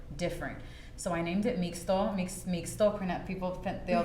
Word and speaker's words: Mixto: So I named it Mixto. Mixto, people they'll pronounce it Mixto, but it's Mixto. And so if it's in the indigenous tongue, like Mexico has X in it, it's that's the indigenous sound.